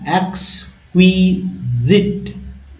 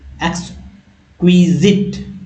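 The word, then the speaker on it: exquisite: meaning है दोस्तों एक्स एक्स क्विजिक एक्स क्विजिक एक्स क्विजिक है ना याद अच्छे से उच्चारण करिए एक्स क्विजिन साइट नहीं पढ़ेंगे जिट पढ़ेंगे जिट यानी अति उत्तम बहुत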